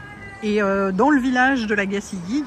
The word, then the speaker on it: La Gacilly: Et voilà, nous sommes arrivés à la Gacilly, donc ça se prononce comme ça, comme je vous disais ce matin.